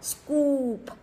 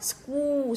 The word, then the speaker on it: scoop: Scoop. Đọc scoop xong rồi đến âm p bật ra đúng không ạ?